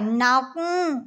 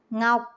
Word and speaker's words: ngọc: phải nọc mà là ngọc.